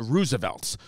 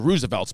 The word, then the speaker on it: RSVLTS: and i'm dyslexic so it's the roosevelts but it's r s v l t s r s v l